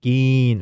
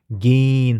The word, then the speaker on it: gehen: gehen. 왜죠? 모음 뒤에 하가 붙으면 앞에 있는 몸을 길게 발음하는 장모음이 되기 때문에 gehen 하죠.